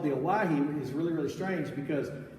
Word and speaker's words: Owyhee: But they didn't know how to say Hawaii or how to spell it, so they spelled it O-W-Y-H-E-E, Owyhee.